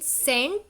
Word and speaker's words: scent: Now look here, in scent C is silent. जब हम scent बोलते हैं तो C का साउंड नहीं आता.